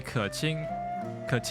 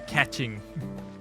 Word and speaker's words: Keqing: They just follow butchered me. it so hard. Yeah, it should be Keqing, and then they say catching.